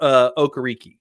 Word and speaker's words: Okereke: way that is it's quite unexpected, except for Okereke, right?